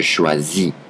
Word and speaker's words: choisis: And then the ending that you need to add for je, it's IS, pronounced I. So you would have je choisis, which in English is I choose.